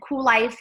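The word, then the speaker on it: Kuel Life: of cool life and cool life is spelled all cattywampus with a k' it's k ue l l ife cool life is an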